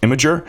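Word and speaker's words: Imgur: talk about all right it's I always say I'm ger when I see it but it's actually pronounced imager and imager we already know the huge partnership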